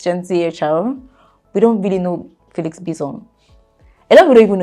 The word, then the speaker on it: Bissong: Felix Bissong, that's the pronunciation of the name. Felix Bissong.